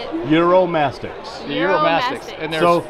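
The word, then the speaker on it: Uromastyx: how to say it eurom mastics eurom mastics and think like Europe and sticks with a ma in the end eurom mastics eurom mastics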